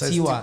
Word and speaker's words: Tiwa: Yeah, it's Tiwa. Tiwa, exactly. Tiwa Savage. Yeah. Tiwa? Hold on. You don't really. Tiwa.